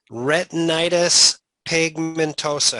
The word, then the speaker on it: retinitis pigmentosa: Retinitis pigmentosa. How do I do with the pronunciation?